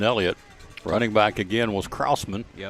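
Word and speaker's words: Krausman: Running back again was Kraman. Yep. So that would be Tucker. K R A U S M A. And Kraussman will be his pronunciation for the ball game.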